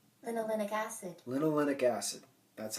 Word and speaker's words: linolenic acid: Now, alpha linolenic acid. Okay, now this is how it's... Linolenic acid. Linolenic acid. That's how it's pronounced.